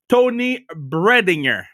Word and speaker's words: Toni Breidinger: So I want to make sure I pronounce your name the right way. You tell me if I got it right. Toni Breidinger.